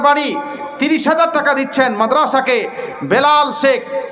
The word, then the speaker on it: বেলাল: 30000 টাকা দিচ্ছেন মাদ্রাসাকে বেলাল শেখ বেল্লাল যদিও হয়তো লিখা হয়েছে তবে অরিজিনাল শুদ্ধ উচ্চারণ হবে বেলাল উনি 30000 টাকা দিচ্ছেন